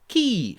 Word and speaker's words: Kyiv: Kyiv, not Kiev.